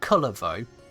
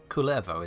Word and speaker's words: Kullervo: looking at is level not colorful as I've heard many NPCs even refer to it culevo is the best pronunciation I can get I can't roll the r on demand this this might seem